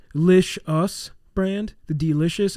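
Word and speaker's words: Delishus: name okay the d lish us brand the delicious it's spelt d-e-l-i-s-h-u-s sure dash dash yeah and this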